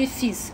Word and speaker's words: fils: А в сын, кстати, fils, le fils, уникальное слово, потому что s на конце мы его произносим, потому что обычно во